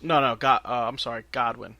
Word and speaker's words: Godwin: no god I'm sorry Godwin I said it wrong I said Goodwin Godwin so I'm not gonna